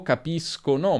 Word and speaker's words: capiscono: Se abbiamo o, si pronuncerà sk, quindi capisco, capiscono, ma se abbiamo e o i, abbiamo sh, capisci, capisce.